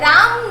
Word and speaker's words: ram: So here रैम is written. राम नहीं read करना है इसे, रैम. इट is read as रैम.